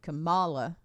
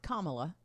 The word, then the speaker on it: Kamala: think it's easier uh here's another one Kamala not Kamala and I've heard that